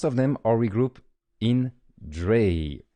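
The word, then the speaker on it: drei: Most of them are regrouped in Dray, that we probably pronounce dry. It's the German for three. I think I would say just Dray because I got used to say Dray. Sorry if it's not the right pronunciation.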